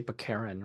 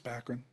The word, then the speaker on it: Baccarin: I always would say Baccarin or. No, I think it's Baccarin.